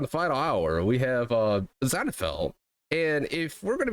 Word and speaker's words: Zanifel: Now, today on the final hour, we have Zanifel. Is that how you say it? Yeah, Zanifel, yes. Zanifel. And then, okay. Yeah, Zanifel, and then if the shortened version is Zani.